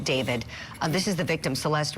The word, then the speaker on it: D4VD: Um this guy's real name is David Burke even though he spells it weird as an artist. D4 VD. He pronounces it David.